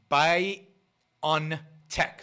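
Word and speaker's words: BioNTech: a company called bio by on tech that's how you pronounce the name b i o n t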